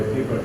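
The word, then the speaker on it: piobaireachd: By the way, pibroch is spelled P-I-O-B-A-I-R-E-A-C-H-E. Well, here's what I know about Gaelic. You don't pronounce it the way it looks.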